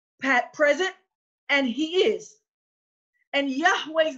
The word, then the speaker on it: Yahweh: So let's see why that pronunciation of Yod, Hey, Wah, Hey, past, present, and future could only be Yahweh.